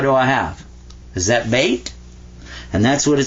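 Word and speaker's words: بيت: This says ba, and that means be quiet. Like this silent y is right here in English. This means be quiet. And this is ta. Beta. Bait. So that's how you say house in Arabic.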